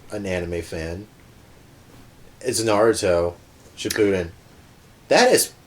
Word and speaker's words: Naruto: I don't want to get deep into Naruto, but it's pronounced Naruto.